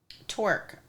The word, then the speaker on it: Torc: Torque, I believe, is the correct pronunciation.